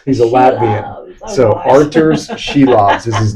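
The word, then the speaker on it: Šilovs: It's pronounced Sheilovs. He's a Latian. So Arthur's Sheilobs is his name.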